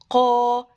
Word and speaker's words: ق: صوتك يا عم حرف القاف صوته هو مفتوح قا، قاف فتحة قا. وكمان حرف القاف من الحروف المفخمة. يعني ايه؟ يعني لازم انطقه كده، اقول قا، ما اقولش ك.